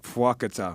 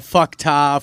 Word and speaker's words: Fuákata: Fuákata. Am I saying it right? No, you're saying it perfect. Perfect. Better Honestly, than most. Yeah, better than most. You could be saying Fuákata, Fuckta, Fupa Taco. We've been called everything.